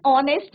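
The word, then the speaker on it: honest: क्या है are similarly an ऑनेस्ट मैन नेस्ट नहीं है ये ऑनेस्ट है तो यहां पे एच क्या है बच्चों साइलेंट क्या है यहां पे एच आपका साइलेंट है अ यंग बॉय अ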